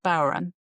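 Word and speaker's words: bodhrán: And my mom said, well, you know, I have this power and I traditional Irish drum spelled Bodran, but it's pronounced Baron.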